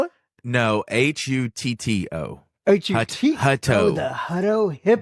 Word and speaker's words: Hutto: you spell it no hu t t o hu the Hut Hipp but it kind of rolls off the tongue as Hutto yeah when Matt's from